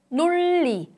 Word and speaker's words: 논리: In the pronunciation of 논리 in Korean, the 느 sound changes to 르 sound.